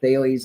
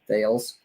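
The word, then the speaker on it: Thales: dot com i find bailey's is most people can't even pronounce it they think it's like how mike tyson pronounces sales fails uh but that's not it so um i'll help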